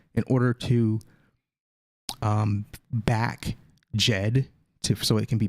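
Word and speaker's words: Djed: in terms of terminology jed and and that's the proper way to pronounce the jet comes from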